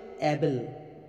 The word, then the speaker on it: Abel: আর জানলাম আয়াত থেকে হাবিল শব্দটি আরবি শব্দ হিব্রু বাইবেলে এর নামটি রয়েছে এবেল এ বি এল এবেল সে ছিল মেশফাল আর